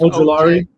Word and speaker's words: Ojulari: It's Ojulari.